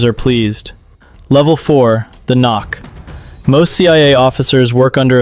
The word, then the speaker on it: NOC: Nonofficial cover. Knock. Pronounced knock.